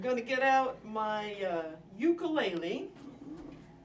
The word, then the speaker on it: ukulele: to get out my ukulele, or as I believe they would say in Hawaii, which is has become associated with this, ukulele. I believe that's how it would be pronounced in the Hawaiian language.